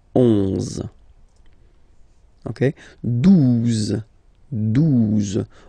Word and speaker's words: douze: exist phonetically, onze, okay, douze, douze, O, U, the two together will give you the sound OO, okay, and then Z, douze, douze, alright.